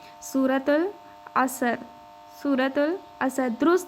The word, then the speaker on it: سورۃ العصر: سورۃ العصر، سورۃ العصر، سورۃ العصر، درست تلفظ کے ساتھ، ٹھیک ہے۔ ہم نے جلدی